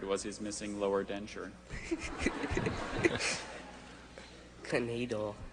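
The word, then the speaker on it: knaidel: Canadal. Are there any alternate pronunciations? There's just canadal and knadel.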